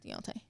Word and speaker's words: Deontay: Deontay.